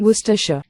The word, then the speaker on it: Worcestershire: This is how it is pronounced. Worcestershire.